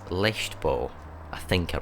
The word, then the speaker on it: Leichtbau: In no particular order, first up is the 1993 Porsche 911 Turbo S Leichtbau. I think I pronounced that right. That rather fancy German word, Leichtbau, actually translates as lightweight construction, which I'm guessing